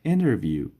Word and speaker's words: interview: How was your interview? How was your interview? در انگلیسی محاوروی T بعد از N تلفظ نمیشه.